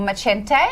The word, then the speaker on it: Macente: I'm very excited that I've got Olivia Macenti back, or Macente, as she said on Saturday, that I never knew the pronunciation of that.